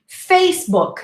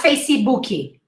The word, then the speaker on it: Facebook: whopper from burger king facebook not facey bookie face book two syllables not facey booky and now some other